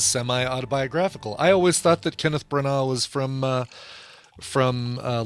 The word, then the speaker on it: Kenneth Branagh: you put that that's you don't pronounce the uh the gh kenneth branagh right brana hey steven